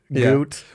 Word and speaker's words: Godot: Oh, it's called It's It's called Goot. You don't pronounce the D.